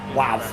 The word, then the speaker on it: WAV: So That's WAV, not wave.